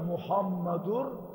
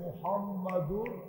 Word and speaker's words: মুহাম্মাদুর: সঠিক উচ্চারণ হল মুহাম্মাদুর এই উচ্চারণ আমাদেরকে শিখাইছে মুহাম্মাদুর।